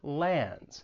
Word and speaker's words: lands: You may not pronounce the D when it comes between two consonants. And again, you hear this in words like sandwich or lands.